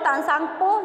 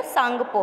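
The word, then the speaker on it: Tsangpo: Where is called तांसांगपो, जिसको जहाँ पर तिब्बत में ब्रह्मपुत्र नदी को क्या बोला जाता है बच्चों? सांगपो। क्या बोला जाता है? तसांगपो नहीं बोलेंगे, सांगपो बोलेंगे, टी साइलेंट रहेगा।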